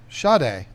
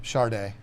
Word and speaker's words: Sade: Sade. Oh. Well, I like that. Well, yeah, but I always pronounced her name Charday.